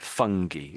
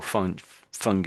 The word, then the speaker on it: fungi: So these lychen are little sort of they're all in a way they're a little bit like fungi or fungi.